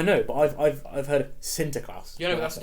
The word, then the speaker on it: Sinterklaas: You didn't know how to pronounce it properly, so Sinterklaas.